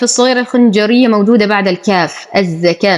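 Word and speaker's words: الزكاة: الخنجريه موجوده بعد الكاف الزكاه نلاحظ ان الالف بعد الكاف وليست بعد الواو فلو كانت بعد الواو ل قراناها الزكوات ولكنها بعد الكاف اذا نقول الزكا وهذه الواو لا تنطق واركعوا همزه الوصل تسقط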